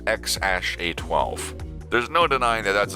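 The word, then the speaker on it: X Æ A-Xii: baby boy together and his name is x-a-e-a-x-i-i pronounced x-a-12 there's no denying that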